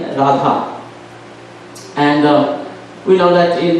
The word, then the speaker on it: Radha: So Ra and Radharani name, the Radha name, there is two syllables, Ra and Dha.